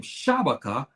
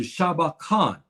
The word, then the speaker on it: Shabaka: But you notice my ancestor, his name, they butchered his name Shabaka to Shabakan.